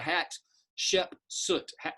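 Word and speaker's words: Hatshepsut: name is that's uh so think of three syllables hat like a hat shep soot soot and uh we know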